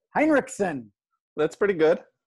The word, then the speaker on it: Hinrichsen: Well, I would say Hinrichsen so people understand. If I said it in German, it would be Hinrichsen. Hinrichsen. But that's how you break your throat. So Hinrichsen, Hinrichsen, all of that works.